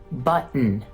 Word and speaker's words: button: Now, there are some words where that T isn't pronounced like that, but we have a glottal stop, like in button, Manhattan, Latin. Notice how I'm not saying button, nor am I saying button. I'm saying button, button.